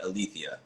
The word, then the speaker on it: Alethea: morning I have to am I pronouncing your name right althia yes and most people get it wrong so high five to